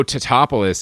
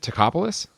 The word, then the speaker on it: Tatopoulos: Nico Tatopoulos is the name, although they will constantly be pronouncing that wrong throughout the movie. Yeah, it's they isn't it Tacopoulos?